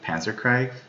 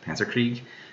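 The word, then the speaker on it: Panzerkrieg: I think it's called Panzer Craig Panzer Krieg I think the latter was correct the pronunciation there but that's all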